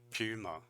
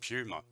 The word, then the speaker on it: Puma: another shoe company called Puma or Puma so in America they say puma I don't know how they say that in Germany but in Australia we say puma super different it's the